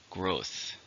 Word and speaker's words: growth: Growth. You notice the diphthong at the end.